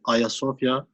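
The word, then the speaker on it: Ayasofya: thousand years higher sophia which is in turkish also a similar pronunciation ayasovia was the largest and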